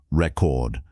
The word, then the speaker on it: record: For example, record as a noun is stressed on the first syllable, re record. But record as a verb is stressed on the second syllable, record.